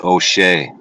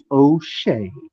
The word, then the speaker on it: O'Shea: you just mispronouncing it what is the proper pronunciation it's O'Shea O'Shea like otay this whole time no uh